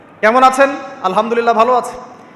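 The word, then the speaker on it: الحمد لله: তো আলহামদুলিল্লাহ না বলে সে বলেছে আলহামদুলিল্লাহ ওই যে হা এর উচ্চারণ পরিবর্তন হয়ে গেছে এই কারণে অর্থ পরিবর্তন হয়ে দাঁড়াবে যে সমস্ত নিন্দা আল্লাহর জন্যে যিনি জগৎসমূহের রব আমার কথা কি বুঝতে পারছেন শুধু হা এর মাখরাজ ভুল হওয়ার কারণে এই সমস্যা হল তাই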